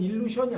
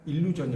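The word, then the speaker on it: illusion: 이렇게 이렇게 쓰는 거지 이거의 발음은 일루션이 아니라니까 일루전이 맞아요 아 제말 이해가 안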